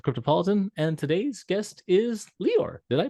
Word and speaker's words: Leeor: over at the cryptopolitan and today's guest is leor did I pronounce that right yeah you got it spot